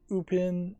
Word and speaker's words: Upin: So they pronounce it upin and ein.